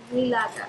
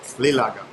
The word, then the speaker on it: nilaga: Nilaga. Lilaga. I'm not going to say it right ever. Nilaga. Nilaga. There you go. With an N, okay.